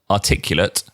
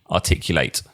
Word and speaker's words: articulate: Now, I've just realized that I've said those words is the spelling is identical, but you actually pronounce them differently. スペルは同じだけれども、プロナンセーションが形容詞か動詞かで変わってくるんですね。 Well, here's a little test, Terumi. Okay. A, articulate.